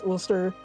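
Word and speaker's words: Ulster: But but because here um I think this country's name is pronounced O. It's mistaken. is olster in in in British English or in English it's Olster.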